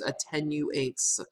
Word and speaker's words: attenuates: get started um attenuates I'm noticing here that there is not an extra T in here so it's attenuates sometimes people mispronounce this one um this is a